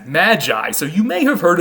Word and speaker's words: Magi: in greek and then the latinized version of magoy is we would pronounce it today as magi so you may have